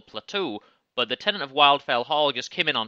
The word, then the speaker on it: Wildfell: tenant of wildfell hall i always pronounced it wildfell hall there's no reason for that in the english language it's clearly wildfell um have you read